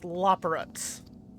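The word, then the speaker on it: Loporrit: I think it's pronounced Loporits. That's the correct pronunciation, yes.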